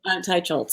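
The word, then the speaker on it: Teicholz: gonna say it wrong tell me her name nina nina nina teicholtz i've been a fan for years now yep ty schultz okay good she wrote this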